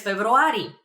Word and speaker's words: февруари: For example, I'm born in February, so I would answer през февруари. През февруари. It's very similar to February. Februari. Just a little bit of a trick over there in pronunciation, but that means in February.